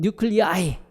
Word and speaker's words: nuclei: 거기 이제 정관사 더가 들어가 있기 때문에 그래서 복수형은 뉴클리아이 이렇게 발음을 하고 그리고 스펠링도 NUCLEI 이렇게 표시를 합니다.